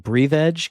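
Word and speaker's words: Breathedge: And then go over to the Epic Games Store where you got Breath Edge, or I think it's actually pronounced like Breathe Edge, because I watched a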